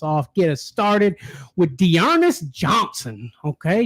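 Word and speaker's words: D'Ernest: I'm going to pop us off, get us started with Dearness Johnson. Okay, Dearness Johnson. You got to say it like that.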